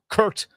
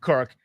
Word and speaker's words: Kirk: They haven't called him Troy yet, the way that Bruce Allen was royally mispronouncing the name of his quarterback, Kurt Cousins, instead of Kirk.